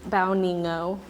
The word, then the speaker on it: Bao Nghi Ngo: Vietnamese name, which is Bao Nghi Ngo. So pronunciation, it's like bow, like you're taking a bow, your knee, and then no.